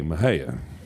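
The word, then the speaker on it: Mexia: She's from a little town called Maha, Texas. That's spelled just as it sounds. MX i. Maha.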